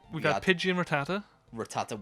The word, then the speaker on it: Rattata: Rattata, which when I was young, I used to say it Ratata.